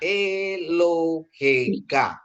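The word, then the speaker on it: אֱלֹהֶיךָ: Kadang Anda mencukupai aksara kapsopit ini dengan powel kamat seperti ini ya. Ah, bentuk ini dibunyikan dengan seperti contoh kata di bawah ini. Eohika. Elohika. Eloheka gitu ya. Allahmu untuk laki-laki gitu ya. Eloheka gitu kan dari kata Elohim.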